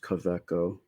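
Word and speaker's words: Kaweco: would assume it says caveco but it's been around this company's been around since 1883 so yeah it's really cool it's actually a w right but they pronounce their W's like these yes the caveco special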